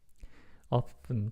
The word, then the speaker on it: often: it it's an ability often pronounced without t o often it's often